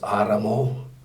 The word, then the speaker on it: Adamo: As far as my ancestors go, I'm a descendant of Aramo. In our language, it's pronounced Adamo.